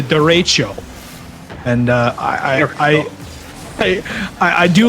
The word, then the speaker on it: derecho: But unfortunately, no, Crispy, it is not the Derico, it is the derecho.